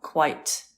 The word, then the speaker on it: quite: it's always good to point out quite one syllable quiet two syllables that's it the spelling's